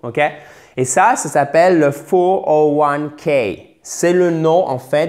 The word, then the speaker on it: 401k: Et 401k. Et ce n'est pas un 401k. Non, non. C'est 401k. OK? Chiffre par chiffre.